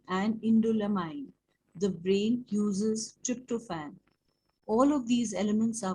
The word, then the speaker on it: tryptophan: These assets include the amino acids tryptophan, production, pronounced tryptophan, and tyrosine, which are sacrificed in the liver as antioxidants to neutralize toxic waste.